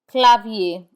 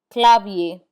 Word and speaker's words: clavier: We do not pronounce the R in IER. Instead, it has the A sound. Papier, papier, which means paper. Clavier, which means keyboard. Clavier, clavier.